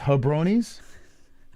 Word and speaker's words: jabronis: It's ha, not ja. Jabronis? It's not ja. It's hubronis? What? It's so funny how you say it. Hubronis? Ha. Ha. Say it. Ha. And then roll your R.